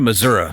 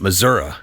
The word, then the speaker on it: Missouri: Okay, back to Missouri, as I was taught to pronounce it. Missouri in my newsman days, as brief as they were. The correct way.